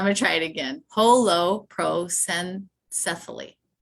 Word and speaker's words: holoprosencephaly: Holoprosencephaly.